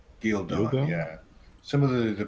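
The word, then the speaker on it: Ghealdan: Gildan? Gildon, yeah. Some of the pronunciations are weird.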